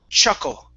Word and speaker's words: chuckle: Okay, so it's chuckle, ch, chuckle. One more time. Chuckle. Chuckle. Perfect. Okay, that's how you pronounce the CH sound. Okay, now the problem is remembering that. Okay, because I imagine you're very used to pronouncing even the CH in Spanish as more of a sh sound.